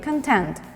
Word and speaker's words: content: end user or audience not the difference in pronunciation of the word as a noun and as an adjective as an adjective we said we say content the synonym of the